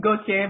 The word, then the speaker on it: Gauthier: And beneath me, I have Gauthier. Is that how you pronounce it? It's Gauthier, but it doesn't really matter.